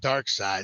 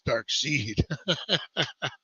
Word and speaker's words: Darkseid: saw it I'm like that's not dark side that's Darkseid uh man when you